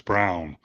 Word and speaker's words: Braun: Yeah, his name is spelled Braun, but he says it's Brown.